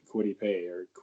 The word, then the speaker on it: Kwity: And I'm going to say they draft a guy that Caleb's not very high on, and Kwity Paye. How do you pronounce it? I think it's just Kwity.